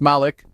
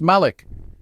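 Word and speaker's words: مالك: In one qira'at, it is pronounced Malik, while in another it is pronounced Malik. Yet the meaning remains the same, king.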